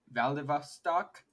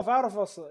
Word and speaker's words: Vladivostok: I know, like, the V in Russian is supposed to be pronounced as an F. The first part of it looks like Vlad, but I know it's not pronounced Vlad.